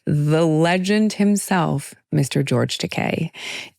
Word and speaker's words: Takei: George Teay. It rhymes with gay.